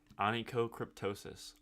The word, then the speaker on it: Onychocryptosis: Onychocryptosis.